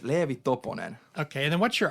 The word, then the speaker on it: Leevi Toponen: last name because it's hard for me to pronounce I I know your name but I I can't say it right so it's leevy toon okay and then what's your artist name it's